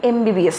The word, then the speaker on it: MBBS: নাও MBBS যখন আমরা উচ্চারণ করি, we start pronouncing it with a Bhawal sound, M. যদিও লেখাটা কনসোনান্ট দিয়ে, কিন্তু যখন আমি উচ্চারণ করছি আমি আগে কি বলছি, এম, এ আগে আসছে.